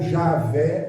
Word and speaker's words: Javé: eterno glória a Deus o nome Jeová é transliterado de um tetragrama Y H w não tem vocal mas para se pronunciar se colocar o vogal Y H w h botar o a botar o e ficou I A V ou Javé ou Jeová e a a Bíblia